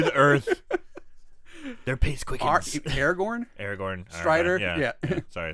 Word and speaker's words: Aragorn: this way I'm like what it's like he's Aragon you know listens to the Earth their Pace quick Aragorn Aragorn ster yeah sorry I said it wrong